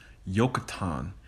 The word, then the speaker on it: Joktan: Now, Joktan, the son of Eber, his name is actually pronounced Yokatan because there is no J in the Hebrew language.